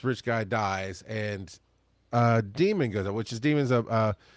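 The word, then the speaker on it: Daemon: The first book is called Demon by Daniel Suarez and it's spelled like a computer demon d a m o n and it is this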